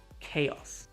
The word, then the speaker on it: chaos: So if it sounds like a Greek word, ch sounds like K, for example, chaos, character chemistry.